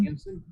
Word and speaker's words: Nielsen: Nielsen?